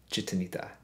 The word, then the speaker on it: Gitanita: But it's spelled G-I-T-A-N-I-T-A, La Gitanita, but pronounced Gitanita.